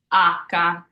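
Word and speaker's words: acca: English then we have H which is AKA so once again I've underlined the ah here because that's where we're emphasizing AA next we have I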